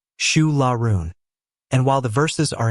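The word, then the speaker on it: Siúil a Rúin: It's called Su Larun, pronounced Shu Lau.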